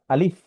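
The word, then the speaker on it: ألف: এই হরফটি উচ্চারণের ক্ষেত্রে সামনের উপরের দাঁত, নিচের ঠোঁটের পেট, বাতাস চালু, মুখে হাসি ভাব। অর্থাৎ আলিফ।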